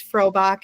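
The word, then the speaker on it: Frohbach: My last name is Frobach and that's spelled F R O H B A C H.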